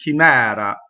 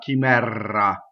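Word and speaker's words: chimera: So this is chimɛra. Notice the single R, not chimɛra. That's a common mistake.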